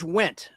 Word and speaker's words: Wendt: It's George Wendt. Spelled with a D. The D is silent.